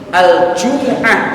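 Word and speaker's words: الجمعة: Maka di dalam Islam sesungguhnya ajaran Jumat membacanya adalah bidhammil mim wal jim, al-jumu'ah, yang artinya fudulah.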